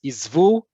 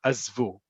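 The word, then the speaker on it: עִזְבוּ: The singular feminine, according to Hebrew grammar, is izvi. But as I put in here in parentheses, you're going to likely more likely here azvi. And plural, regardless of gender, is izvu. Again, you're going to hear azvu.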